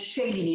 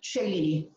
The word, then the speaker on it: Shailini: Well, it's funny because the Indian name is Shalini, but I'm from Nepal. We have to be a little different. So mine is Shailini. There's an extra I. Shailini.